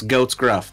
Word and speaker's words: Goat's Gruff: your name it's it's goat's gruff that's how you no not ghost gruff i know how to